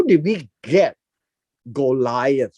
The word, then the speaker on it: Goliath: in the hebrew it's uh gol got right golyat it's it's spelled this way gol yat now how did we get goliath right here now much of our hebrew names